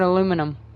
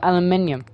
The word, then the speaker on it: aluminium: that's Now 60 Gold do the same for aluminum or aluminium which is how you actually pronounce it you bloody Americans Emma would be